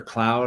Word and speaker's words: Claude: Um Anthropic, which is I've heard Claude or Cloud. I've heard people pronounce it both ways. Um, I say Claude. Yeah, me too. I think like the French name is Cloud.